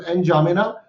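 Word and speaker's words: N'Djamena: Shard and जामेना, and indie जामेना, D silent हो सकता है इसका, तो एन जामेना।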